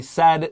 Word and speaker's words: said: Please don't say she said. AI 的读音啊。 I said. No, it's I said. This is a short E, like elephant.